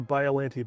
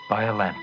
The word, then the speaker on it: Biollante: BIOLLANTE. But to be more accurate to the Japanese word, you would say BIOLLANTE. BIOLLANTE.